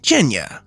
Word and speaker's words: Gena: writing this visual novel named Gena and no I did not mispronounce that this game is